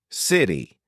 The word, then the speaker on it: city: something in American English if you have a letter T in the middle of a word sometimes you pronounce it as d letter letter letter because it's faster because it's smoother City you don't say it's